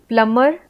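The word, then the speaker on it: plumber: हैं लेकिन अब लिखने हैं कम वैसे ही प्लंबर सा कम तो यहां पे बी साइलेंट है फिर साइलेंट है जैसे सेपर सीजर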